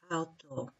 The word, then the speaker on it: auto: Auto, because we pronounce this O long, auto, and then we have to put two O's here, it's because of pronunciation, auto, yeah.